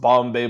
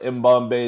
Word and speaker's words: Mbombay: So I'm So it's not pronounced Bombay but Mbombay is cool.